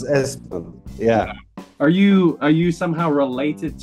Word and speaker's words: Espen: Yeah, it's Espen.